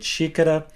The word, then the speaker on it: xícara: So just to remind you of those 2 little tips that I gave earlier, whenever a word starts with an X, it will have the sh sound, like the word xícara, and whenever a word